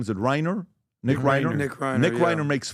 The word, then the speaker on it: Reiner: Nick Reiner.